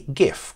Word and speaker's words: GIF: presentation but it's a gift graphics interchange format and that's why I believe it should be gif not jiff because the G stands for graphics and that's pronounced graphics not a giraffe --ax